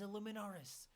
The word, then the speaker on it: Illuminaris: It is Illuminaris.